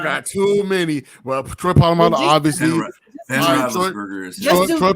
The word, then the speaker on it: Polamalu: And then I can't pronounce Palomalo for nothing.